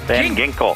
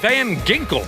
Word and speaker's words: Van Ginkel: Van Ginkel. Van Ginkel.